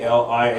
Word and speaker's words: Athaliah: I'm going to ask the pastor here to pronounce this for me. Athaliah. Call her Athilia or Attilia.